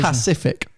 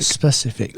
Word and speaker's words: specific: but now you're doing cockney slap yeah about mispronunciation well that is mispractical pacific instead of specific specific that's not cockney slang you're not going i